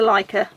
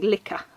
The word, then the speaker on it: Licca: I'm saying it wrong in my head I was always saying liquor body but it didn't sound quite right and then I heard someone say like on another video so